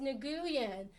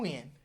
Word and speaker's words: Nguyen: That's Win spelled Nguyen. I know, it's spelled like it should be pronounced Nguyen. But if you know football, then you know Dat Win. It's the same word.